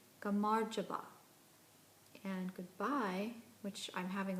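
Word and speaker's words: gamarjoba: can do this correctly hello is pronounced gamar java and goodbye which I'm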